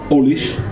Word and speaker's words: Alice: Alice, qu'on prononce Olish dans la région, est une Française qui a croisé le chemin de Big Pat, le voleur de bagnole de Dublin.